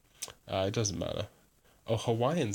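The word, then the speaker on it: Hawaiʻi: know my problem with Hawaii is that or to say it and how it's supposed to be pronounced Hawaii you hear that that's a glass of stop Hawaii that's a glass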